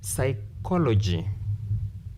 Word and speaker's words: psychology: Then psychology, you count 1, 2, 3. Therefore, words ending in CY, TY, PHY, GY, stress anti-penultimate. Anti-penultimate means before penultimate or